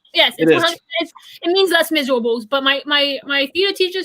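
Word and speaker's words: Les Misérables: Just to clarify, it is pronounced Les Miserables. Yes. Correct. If you say Les Miserables, I will kick you out of this stream immediately.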